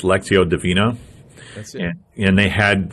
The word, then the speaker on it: Lectio Divina: And in the evening, we did, I think it's pronounced Lectio Divina.